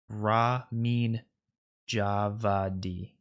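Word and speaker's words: Ramin Djawadi: The composer's name is pronounced Ramin Javadi.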